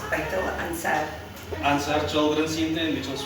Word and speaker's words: Baitul Ansaar: How do you pronounce it right? It's Baitul Ansaar.